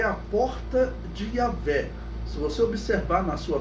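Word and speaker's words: Yahweh: por Eu Sou, e a pronúncia dele seria Yahvé. Essa é a pronúncia mais aceitável, né?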